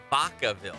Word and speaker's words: Vacaville: yeah yeah but but it's like Baca Ville like a Baca like a cow Baca but everyone says back of Hill that's its back